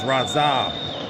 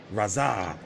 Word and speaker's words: Radzhab: Oh, it's Radzhab. The H is silent. Got it now. Radzhab.